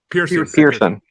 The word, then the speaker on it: Pearson: Is it Pearson or Pearson? Pearson. Okay. You haven't watched This Is Us, Freddie? What the fuck? I have trouble pronouncing shit, so Pearson.